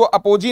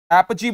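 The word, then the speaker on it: apogee: तो शिखर का मतलब हो गया था एपजी। क्या हो गया था? इसको अपोजी नहीं बोलेंगे, क्या बोलेंगे? एपजी बोलेंगे, जिसके लिए वर्ड था पिनैकल।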